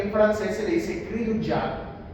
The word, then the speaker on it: cri du chat: francés se le dice cri du chat. Pronuncie. Cri du chat. Cri du chat. Ay, no. No con la T.